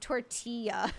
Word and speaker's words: tortilla: I've had people correct me before in chats where they're like, "It's the L's are silent. It's pronounced tortilla."